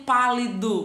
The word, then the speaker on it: pálido: Abaixo eu tenho pálido. Vamos com essa sílaba tônica. Vamos saber onde ela vai receber esse acento. Pálido. Ah, tia, é no pá. E aí? É pã ou é pá? Ah, é pá.